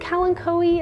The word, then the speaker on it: Kalanchoe: Now I think Kalanchoe is how you would pronounce that. I don't know, I could be wrong, but that's how I say it.